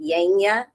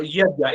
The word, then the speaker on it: Yajna: Oh, yagya. It is a gratitude. How do you say it? Yagya. Yanya. Yagya. Yeah. Yagya. Y-A. Normally it is spelled in English as Y-A-J-N-A. Yajna. Okay.